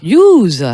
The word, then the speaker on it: Youse: Alors justement, vous allez nous parler de Youse, je le prononce bien, Youse. Youse.